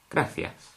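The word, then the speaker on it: gracias: gas now I've already told you how to pronounce this letter and these letters A and E graas now the one letter that could catch you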